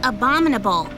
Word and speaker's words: abominable: about this abdominal snowman it's pronounced abominable oh a bomba dead